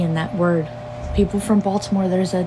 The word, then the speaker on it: Baltimore: to that list Baltimore there's no tea in Baltimore there's no T don't pronounce it like that if you ain't from here it's Baltimore Not Baltimore yeah that and mind